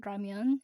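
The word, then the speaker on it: ramyeon: I heard that Koreans were really excited that they pronounced it rammen instead of ramen because ramen is Japanese and rammen is apparently the Korean.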